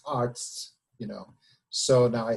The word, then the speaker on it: Artz: I you know like I just joked with Matt about the German pronunciation just Arts you know so now